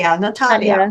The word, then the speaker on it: Nataliia: Natalia or Natalia Natalia Natalia you need to pronounce correctly Natalia I'm working on that's why I have in